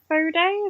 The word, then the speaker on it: Foday: Okay, uh really happy to introduce Fod. Is that how I pronounce it?